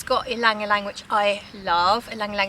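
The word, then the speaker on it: ylang-ylang: How do you say? Just say ylang ylang.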